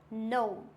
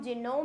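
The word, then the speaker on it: gnome: ये क्या हो जाएगा नो जी क्या है साइलेंट इसको हम जिनोम नहीं पढ़ते हैं क्या पढ़ते हैं नो क्लियर हो गया वेल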